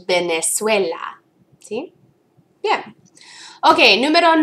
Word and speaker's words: Venezuela: ah Venezuela remembering that when we actually pronounce the V out loud it sounds like a B in Spanish Venezuela okay yeah okay number